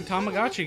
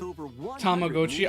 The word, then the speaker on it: Tamagotchi: Tamagotchi. I know it's classic. I know that is more than likely the actual pronunciation cuz it comes from the Japanese word tamago.